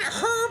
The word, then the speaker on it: herb: can i have italian herb and cheese the bread the best bread is subway that we have it's called italian urban cheese right you know the word herb the h is silent right you know the